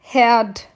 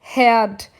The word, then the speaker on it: Herd: O fogão, eu vou dizer Herd. Herd. Então, esse H vai ter som de ré. Esse R no final da sílaba eu quase não falo, eu não preciso forçar ele a falar herd.